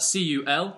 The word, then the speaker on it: cul: And then we have the French word for arse, which is spelt C-U-L, which is pronounced cul. Cool. If you notice, there's slightly less stress on the L at the end, so it's cul.